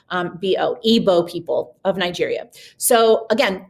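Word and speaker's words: Igbo: from the evo people that g is silent so it's e like a hard e g is silent so the i is pronounced like an e um bo ibo people of nigeria so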